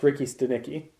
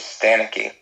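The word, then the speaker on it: Ricky Stanicky: Oh, so that's how you say it? Ricky Stenicki. Ricky Stenicki. Yeah. I thought when I read it, I thought it was Stanicky, I would too.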